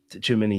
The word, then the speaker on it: Tchouaméni: I think he'll be ahead of sorry, how do you pronounce his name, man? Apologies. Tchouaméni, yes.